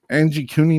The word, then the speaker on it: Angikuni: talking about, maybe the exact thing, is the Angie Cooney Lake, I believe it is the way that the way it looks like it's spelled here.